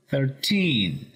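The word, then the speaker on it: thirteen: El número 30 se pronuncia con el acento al principio, 30. Y el número 13 se pronuncia con el acento en la última sílaba, 13.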